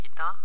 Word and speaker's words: eta: It's called eta. Pronounced as I-T-A, eta.